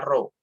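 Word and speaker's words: rho: yang disebut dengan perut dibacanya rhs tulisannya erhao tapi dibacanya roh ya rohingya adalah massa jenis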